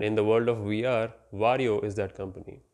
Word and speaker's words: Varjo: the world of vr wario is that company yep wario is how you pronounce their name extended and virtual reality